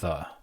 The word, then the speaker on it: ye: Well, the YE is pronounced the, like that's how it's pronounced. It's just the old.